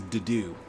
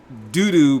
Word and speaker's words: Dudu: This man's name is Dudu. Like doo-doo, but they're just saying it with a French accent.